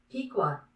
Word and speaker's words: Pequot: Actually, we can get a pronunciation here. Yeah, we might as well find out. Pequot.